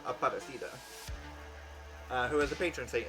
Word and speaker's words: Aparecida: to consecrate Our Lady of, I believe it's pronounced Aparecida, who is the patron saint of Brazil.